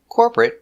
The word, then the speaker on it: corporate: but are never verbs so they're always pronounced with the it short it sound like private certificate chocolate corporate and immediate let's take a closer